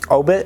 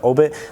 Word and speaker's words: Aubit: that so first off they own 400 million obit which is a cryptocurrency and if you guys haven't looked into obit uh it's spelled a-u-b-i-t i'll put a little bit of